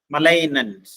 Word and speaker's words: malignant: MALIGNANT. എന്താ മലൈനന്റ് എന്നാണ് ഉച്ചരിക്കുന്നത്? മലൈനന്റ്. മലൈനന്റ് എന്ന് പറഞ്ഞാൽ ഉഗ്രമായ അല്ലെങ്കിൽ അപായകരമായ, പേടിപ്പെടുത്തുന്ന, വിറൂലന്റ് ഓർ ഹാംഫുൾ.